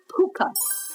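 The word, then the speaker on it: púca: was that there is a creature called a puka p u CA uh-oh puka CU sounds so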